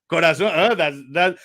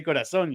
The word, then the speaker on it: corazón: Corazón. That's the Spanish way, because we Latin guys we say but corazón. We say corazón. Yeah, exactly. That's the Spanish way that they pronounce the Z, the C.